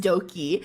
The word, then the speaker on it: Doki: it's spelled, it's like Doki, but instead of spelling with a D, they spelled it with a B or some shit, but it's also still pronounced Doki.